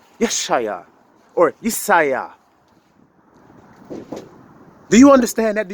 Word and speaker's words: Isaiah: so in my case my name is isaiah or as they say yashaya whatever however you want to pronounce it isaiah if that's the case